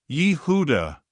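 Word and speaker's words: יהודה: Tonight, we will take the name Judas, which is spelled Yod, He, Vav, Dalet, He. Yehuda.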